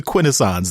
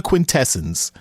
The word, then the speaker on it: Quintesson: quintessons were always the quintessons they were never the quintessence and you know I just had to say shame on you cyberverse writers for for pretending that there's some debate about how to properly pronounce it it's never been quintessence if any of them